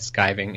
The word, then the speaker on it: skiving: see to be that skiving is probably the correct pronunciation I've just been saying wrong but Oh like I've